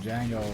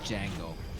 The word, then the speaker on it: Django: What is the Django? Is it this little bongo thingy? I guess so. Chat, can you do us a favor and give us a definition of a Django? The D is silent.